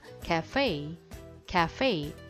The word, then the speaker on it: cafe: 자, 얘는 일단은 수업 때지만은 CA에서 A가 애소리가 날 때는 입을 웃는 것처럼 찢으라고 했죠. 그래서 카페가 아니라 캐라고 발음하고요. 또 얘는 이음절 강세면서 약간 fey 이렇게 돼요. 다시요. cafe 해볼까요?